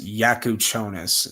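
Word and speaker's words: Jakučionis: Um but I got them taking um Kasparus Yakuchonis.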